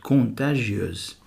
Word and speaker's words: contagieuse: On dit une maladie contagieuse. Un microbe contagieux, mais une maladie contagieuse. S entre deux voyelles se prononce Z, contagieuse.